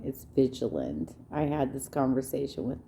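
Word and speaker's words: Vigeland: emma by the way my favorite troll you're mispronouncing her name is vigiland i had this conversation with nyle talking about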